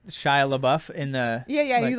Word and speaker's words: Shia LaBeouf: like his name am I saying it right Shia LaBeouf in the yeah yeah he's like no no